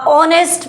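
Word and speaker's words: honest: शी इज़ अ ऑनेस्ट person.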